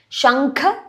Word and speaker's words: Shankha: Shankha kha stress Chakra Gada Pane Pane N capital.